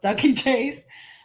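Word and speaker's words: Dooky Chase: name well the name of the restaurant is ducky chase it's it's spelled dookie chase but it's pronounced ducky chase um the chef's name is uh mrs chase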